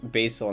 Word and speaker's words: Basel: I know it's pronounced like Basil and stat, right? But like I'm not doing that. I just said it like that during my first Amorei play through and then I I have just refused to change my pronunciation of it since They Why